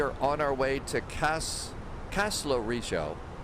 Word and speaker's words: Kastellorizo: We are on our way to Kastellorizo. The Z is pronounced.